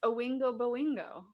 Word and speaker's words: Oingo Boingo: It's Owingo Boingo. Sorry, my fault. I mispronounce stuff.